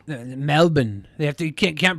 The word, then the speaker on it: Melbourne: in trouble when I say Melbourne yeah it's Melbourne Melbourne they have to you can't pronounce they are you go to hell that's